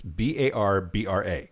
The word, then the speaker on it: Barbra: One of the things I learned about Barbara is that her birth name is Barbra, Barbra Joan Streisand. But for whatever reason, her name has gotten stylized as Barbra. No, it's Barbra.